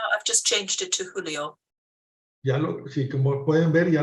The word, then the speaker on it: julio: Julio, July, Yeah. Julio, I got Julio. it. Correct. Okay. So here we go. Can you see my slide now? I've just changed it to Julio.